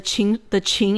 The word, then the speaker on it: Qing: So upon the first Qing emperor's death, the empire plunged into civil war.